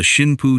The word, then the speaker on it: Shinpu: Onishi named the new unit the Shinpu Tokubetsu Kekitai, the divine wind special attack unit. A name that could also be read using an alternate pronunciation of the same characters as kamicazi.